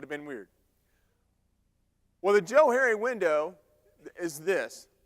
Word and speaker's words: Johari: like it's probably pronounced Johari but I pronounce it Joe Harry because it was created by two guys they're psychologists back in